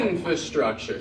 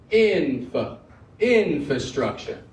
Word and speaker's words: infrastructure: on the word infrastructure oh good one okay infrastructure so we get the inst strong all the other syllables got to be down lower now that's